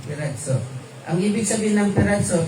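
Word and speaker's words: πειράζω: So ang pronunciation niyan ay nakasulat siya na piraso pero ang pronunciation niya is piratso. Merong e. Piratzo.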